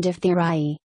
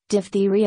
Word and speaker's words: diphtheria: that causes it, Corynebacterium diphtheriae. Diphthera is Greek for skin or hide, a reference to the thick membrane that forms in air passages. It can be pronounced 2 ways, diphtheria or diphtheria.